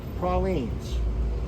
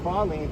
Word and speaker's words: praline: Okay, so pralines. Notice it's pralines, not pralines. Pecans, not pecans, right? That's how you pronounce it, okay?